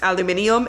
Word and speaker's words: aluminium: And they say something about aluminum, and he's like, it's pronounced aluminium.